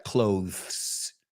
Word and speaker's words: clothes: Yo nunca pronunciaría clothes como TH. Para mí suena como cerrar. The clothes store is going to close.